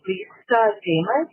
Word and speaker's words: Damas: She told us all that it rhymes with Joe Namath. So if you can remember Joe Namath, you'll remember Lisa Damas.